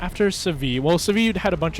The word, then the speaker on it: Seville: After Seville, which is spelled Seville, they don't pronounce this la or Seville, but Seville.